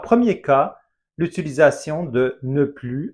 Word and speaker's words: plus: Par exemple, on pourrait dire Müller jouait au foot, mais maintenant, il ne joue plus au foot. Attention, on ne prononce pas le S de plus.